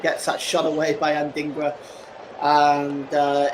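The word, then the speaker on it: Adingra: picks he picks out anding uh anding anding with a shot and he goes just wide I think that pronounce that wrong it's and dingra sorry I apologize it's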